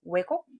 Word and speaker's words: 왜곡: 답은 왜곡입니다. 혹시 안 입을 자만 보고 부곡이라고 읽진 않으셨나요? 사실과 다르게 해석하거나 그릇되게 하는 걸 왜곡 이렇게 읽습니다.